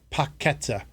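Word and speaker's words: Paquetá: uh but uh oh petta I trying to pronounce his name correctly paketa and he's gone all the way on his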